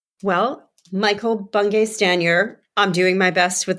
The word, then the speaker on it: Bungay Stanier: hear what Michael had to say well Michael bung staner I'm doing my best with that pronunciation nailed it I nailed it I nailed